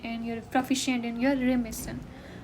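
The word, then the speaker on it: remiss: तो इन वाले हमने 3 पढ़े, कौन कौन से, your negligent in, your proficient in, your रेमिसन, देखो प्रोनाउंसिएशन को देखो, रेमिसन, तो रीमिस इन, केयरलेस, नेग्लेक्टफुल ऑफ, लैक ऑफ।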